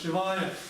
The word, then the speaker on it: Шивая: То есть там «а» долгое, это несомненно «Шивая».